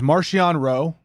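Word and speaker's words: Marchion Ro: Except for the fact that the big bad guy, the BBG, which his name is Marcion Rowe, right?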